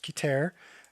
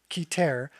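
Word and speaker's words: Keter: So if you think about the top, right, which is, I believe it's pronounced Kiter, and then the bottom, which is Malkut.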